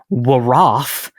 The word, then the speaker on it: wroth: But either way, the Middle English comes from the Old English Wroth, because in Old English they pronounced the silent W's, which we'll get to.